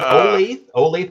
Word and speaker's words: Olathe: my god yeah yeah was it is it olathe kansas is that how you pronounce that yeah olathe okay okay nice that's nice there's no answer